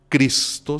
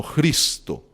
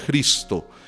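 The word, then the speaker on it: Χριστός: letra J nuestra, porque en griego no se dice Cristo, sino Cristo, ¿sí? Como si fuera con una J, Cristo.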